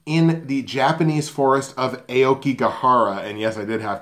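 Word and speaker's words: Aokigahara: Dormer she's searching in the Japanese forests of Aoki Kihara and yes I did have to double-check that just to get the pronunciation right Aoki Kihara otherwise known as the Japanese suicide forest and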